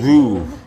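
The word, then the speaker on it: Veuve: how you say Vouv.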